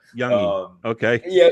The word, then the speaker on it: Youngy: We don't we kind of you guys always sort of put the G in there, Youngy, the Youngy, and it's like it's just Youngy, but Youngy.